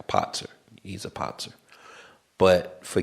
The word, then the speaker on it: Patzer: That's where my name, Patzer, which in the chess it's like a Potzer. He's a Potzer. But for gaming, I just use Patzer because that's the way it's spelled.